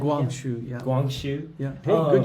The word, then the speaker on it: Guangxu: Guangxu, yeah.